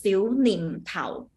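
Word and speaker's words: 小念頭: It will pronounce Xiu Nim Tao.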